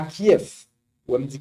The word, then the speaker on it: Kiev: On me dit Kiev, bon. Ou même sous l'écrit K-I-E-V, ou dire Kiev, pas de problème. Mais dans la langue russe, dans la langue bulgare, V est toujours prononcé comme F.